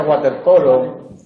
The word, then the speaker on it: waterpolo: Aparece waterpolo, pero se pronuncia waterpolo. En general, cuando la palabra procede del alemán, se pronuncia con B. Cuando procede del inglés, se pronuncia como wow.